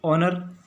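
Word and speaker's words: honour: अ ऑनर आ रहा है दोस्तों, ऑनर इसका प्रोनाउंसिएशन देख सकते हैं। तो अ से इसका प्रोनाउंसिएशन हो रहा है, जो कि हिंदी का वोवेल है, और हमने पढ़ा है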